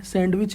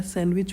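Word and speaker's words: sandwich: silent है ठीक है सैंडविच सैंडविच में डी साइलेंट है सैंडविच नहीं होता है सैंडविच होता है डिजाइन डिजाइन में जी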